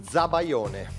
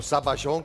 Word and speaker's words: zabaione: Bien, hoy van a preparar zabaione, o zabayón, como es mejor pronunciado. Zambayones para nosotros. No, el zabaione porque es originario de Italia, la mente está bien.